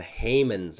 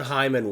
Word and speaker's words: Heyman: Of course, anyone in Discord knows I get roasted all the time for my pronunciation of John Heyman's name. Yes. I call him John Hyman one time, and all of a sudden it's